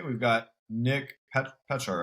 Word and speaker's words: Pechar: I want to say we've got Nick Pechar, right? Pechar, yeah.